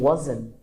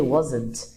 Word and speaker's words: wasn't: Too que eu pronuncio aqui como wasn't. Às vezes eu posso colocar o T, wasn't, mas é muito comum na fala a gente tirar esse T daí, ó.